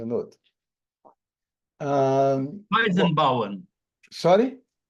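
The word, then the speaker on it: Weizenbaum: professor gianoto é um alemão é o Joseph wienen por favor me corrija se eu pronuncie errado J out ah weisen bowen sorry weisen Bau weisen B thank you ele professor ele era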